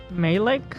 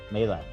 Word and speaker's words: Majlak: Malik? Malik? Is the J silent? I think so. Gotcha. Sorry, what was that? Malik? Malak.